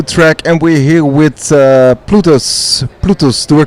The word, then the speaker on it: Plutus: We're here in Amsterdam at the Money 2020, the second day, fully packed with crypto track, and we're here with Plutus. Do I pronounce it correctly?